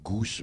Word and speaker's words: G'House: que nous expliquer pourquoi goose parce que goût ça s'écrit g apostrophe h au s2 comme house comme un os en anglais exactement alors c'est venu